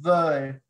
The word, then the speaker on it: veulent: And you remember the ENT, you don't pronounce that in French. It's just veulent.